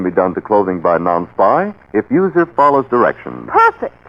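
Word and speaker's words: Nonspi: and department stores now may I ask how you pronounce n-o-n-s-p-i well after hearing how everyone else pronounces non-spy I pronounce it bet this is the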